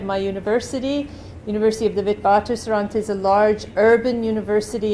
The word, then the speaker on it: Witwatersrand: Witwatersrand. Anyway, so I do speak German, so I normally pronounce it W-like-a-B.